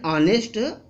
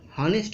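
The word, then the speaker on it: honest: राम इज एन ऑनेस्ट मैन. ऑनेस्ट यहाँ कुछ बच्चे हॉनेस्ट कहते हैं. हॉनेस्ट सरासर गलत है. यहाँ एच साइलेंट है, इसलिए ओ यानी आ, ऑनेस्ट यहाँ आ है, इसलिए यहाँ पर एन का यूज हुआ है.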